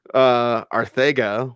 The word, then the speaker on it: Arcega: It's Catalan. It's from Barcelona. Yes, the C is a TH. Okay. Okay. Arcega Whiteside.